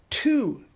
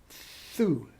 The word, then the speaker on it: tu: So, tu is not pronounced tu in French. It's pronounced thu.